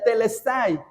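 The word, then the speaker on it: τετέλεσται: Nosotros decimos, nosotros en español dice consumado es, pero en griego se pronuncia telestay. Y el fue un gristo del Señor Jesús. Dijo telestay.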